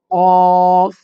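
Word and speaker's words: قاف: ওকে তারপর হচ্ছে ফাফ এটা হচ্ছে মোটা হরফ অফ কফ কফ চার আলিফ টানতে হবে কফ আলিফ জবর ক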